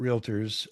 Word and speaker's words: Realtor: to ask you about realtors. Um and I should point out I was on a call today where someone was pronouncing that as a three-syllable word and it's clearly two syllables.